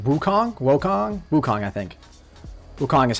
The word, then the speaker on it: Wukong: Wukong is how you pronounce it.